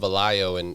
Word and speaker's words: Velayo: It's pronounced Valayo in Tagalog, or in our but most people pronounce it in Filipino.